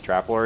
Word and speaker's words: Traplord: For the longest time, I just could never pronounce his name, and then he said it's Traplord, and I was like, oh, that makes so much sense.